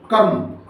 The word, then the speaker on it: कर्म: पढ़ देते हैं धर्म अच्छा रेफ वाले रा की खास पहचान ये होती है कि वो जिस अक्षर पे लगता है उस अक्षर से जस्ट पहले पढ़ा जाता है तुरंत पहले पढ़ा जाता है और आदी आवाज में पढ़ा जाता है और जल्दी पढ़ा जाता है जैसे य मापी लगा तो पढ़ दिया कर्म कर्म जिस पर लगाया